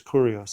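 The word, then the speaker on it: κύριος: are ours so the word right there is correos that's how you pronounce it from kurose which is supremacy but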